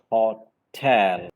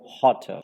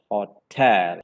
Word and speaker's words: hotel: into two syllables, and the second syllable should be spoken more prominently compared to the first syllable. So it is like hotel.